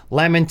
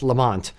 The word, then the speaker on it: Lamont: I'll say like lament as well as Lamont because it's, you know, American versus Scottish way of pronouncing.